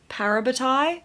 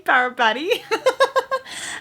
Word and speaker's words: parabatai: By the way, Parabatai, I've been pronouncing it wrong. I've been saying Parabati and it's Parabatai. I've just been told, so I apologize for like this entire video, me saying it wrong.